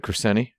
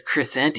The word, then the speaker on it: Crescente: You said Crescenti? He says Crescente. Ooh, like Yeah. the Crusader. Crescente. I did not know that, and Crescente. he just went out and said Crescente. Huh. So That's how it's pronounced.